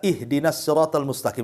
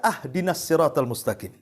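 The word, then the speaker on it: اهدنا الصراط المستقيم: Contoh umpamanya kita baca ihdinasiratal mustaqim kan begitu. Kita baca ahdinasiratal mustaqim. Harusnya dikasr kita fathah pula tuh. Harusnya ihdinasiratal kita katakan ahdinasiratal. Itu kan beda artinya.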